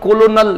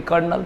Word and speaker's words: colonel: हाँ हाँ, इस पर कोलोनल ही लिखा हुआ है, लेकिन कर्नल पढ़ते हैं, कुछ जो चल रहा है।